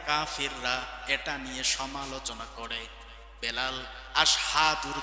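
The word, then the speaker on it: أشهد: এটা নিয়ে সমালোচনা করে আশহাদু জায়গায় আসহাদু বলে ফেলে সিনের জায়গায় সিন বলে ফেলে উচ্চারণ সঠিক হয় না কাফিররা নিয়ে হাসাহাসি করে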